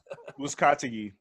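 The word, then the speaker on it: Uzcátegui: Uzcategui.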